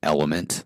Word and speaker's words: LMNT: States and they permount they pronounce it element like the elements of sodium magnesium Etc and it's a